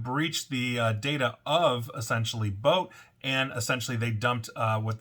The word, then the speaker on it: Boat: Now, customer data for over 7.5 million Boat, and it is spelled boat like I'm going to take a boat out on the river, customers have basically appeared on the dark web, 7.5 million.